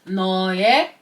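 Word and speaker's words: 너의: your no means you even though this symbol is romanized as UI when this symbol is at the end of a word it's pronounced as e which is why it's no when it's at the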